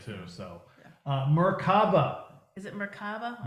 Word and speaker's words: Merkaba: Is it Merkaba? Merkaba.